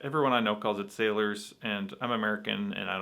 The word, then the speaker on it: Salers: They were saying Sailors, which apparently is pronounced Solaire. I'm not gonna pronounce it like that. Everyone I know calls it Sailors, and I'm American and I don't speak French.